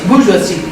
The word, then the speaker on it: bourgeoisie: Yeah, Victorians were part of a transnational culture called, and I'm going to pronounce it à la française, the bourgeoisie.